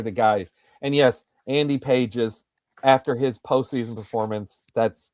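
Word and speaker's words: Pages: And yes, Andy Paises after his postseason performance.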